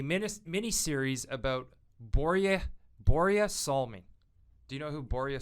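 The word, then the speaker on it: Börje Salming: mini series about borea borea salman do you know who boria salmin is i and i'm probably saying his name wrong as if i wasn't swedish but it's boria psalming he was a legendary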